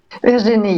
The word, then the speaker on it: Virginie: Did I say it right? Virginie? Virginie, yes, correct.